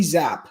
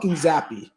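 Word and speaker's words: Zappe: it's Micah Parsons it's Mika and it's Bailey zap it's not zappy is that true it's Micah Parsons it's dude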